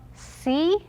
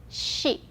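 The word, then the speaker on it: し: so sa shi su the second one is not see it is she okay so sashi the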